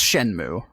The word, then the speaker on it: Shenmue: shen Shenmue III I've never learned how to pronounce that word I think he's Shh it's Shenmue Shenmue okay no I did not I did